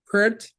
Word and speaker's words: Peart: Peart. Am I mispronouncing it or am I getting it right? You're close. Peart.